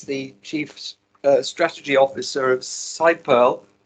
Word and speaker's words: SiPearl: chief strategy officer of side pearl i like to say c pearl because it sounds more frequent but uh you will tell us how to pronounce it um and this is